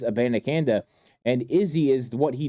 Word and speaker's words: Abanikanda: back Israel aananda and you're going to hear a lot of pronunciations on his name but it is aananda and Izzy is what